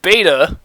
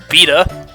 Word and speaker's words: beta: most of my life a fourth of beta was the universal pronunciation until a few years ago when I found out that it was actually just the American pronunciation the the British English pronunciation of it is betta and even after loading that I still sometimes instinctively use the American one because I hear it